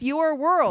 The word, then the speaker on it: URWLD: Oh, but it's pronounced Your World.